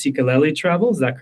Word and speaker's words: Sikeleli: And and I think and we talked about this before we got on, but I think it's pronounced cicelli travel.